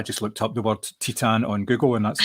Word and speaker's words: Titane: film Titan I just looked up the word Titan on Google and that's how I can actually